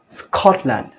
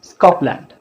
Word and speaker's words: Scotland: So you can see if the sounds p, t, k comes after s, they are not aspirated. Those are aspirated sounds in English, but if they comes after s, they are not aspirated. This is a very important rule. If you see this, don't pronounce Scotland, pronounce Scotland.